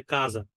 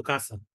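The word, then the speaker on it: casa: in Portuguese দেখেন বাসা বাসাকে আপনার পর্তুগিজে কাজা কাজা একটা জয়ের উচ্চারণ আছে কাজা ঠিক আছে বাট স্প্যানিশে কিন্তু কাসা কাসা বইকে আপনার যেটা হচ্ছে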